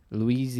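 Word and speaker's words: Liuzzi: Is it Luizzi? Luizzi. That's how you pronounce it.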